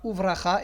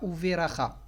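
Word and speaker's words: וּבְרָכָה: Il a un sheva nah, donc on dira Uvracha et pas Uveracha.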